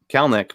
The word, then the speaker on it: Kelenic: corrected me to Kelenic, and it turns out the E is silent in the middle. It's just Kelenic.